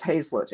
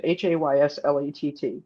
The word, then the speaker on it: Hazlett: My dad's name, my maiden name is Hazlett, Hayslet. You always have to spell it.